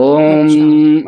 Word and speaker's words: ओम: अनुभवीति लोग भी अच्छा ओम ऐसे पढ़ते हैं तो दोष नहीं। जी ठीक अंत में दोनों होठों का स्पर्श करना, मिलाना मकार के उच्चारण के साथ वो आवश्यक है।